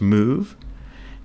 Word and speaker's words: mov: And that's move ra. And this is the first assembly instruction. Assembly instructions consist of two parts. An operation specified by what we call a pneummonic in this case mv pronounced move and operands.